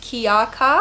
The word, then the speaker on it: Kika: Gray and white guinea pig is Bailey and the black one is Kika. And the black one is pronounced Kiaka. It's Hawaiian for person of shadows.